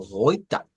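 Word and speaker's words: heute: Y luego tenemos el AT con una schwa. Entonces nos queda como hoita, hoita.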